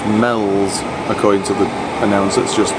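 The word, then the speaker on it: Meols: serve it so we thought it was at meals it's actually pronounced Mel's according to the analysis just to just kicked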